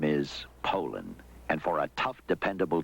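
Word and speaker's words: Poulan: And for over 30 years, they've been mispronouncing our name. Poland. Poo. So we'd like to remind you that our name is Poland.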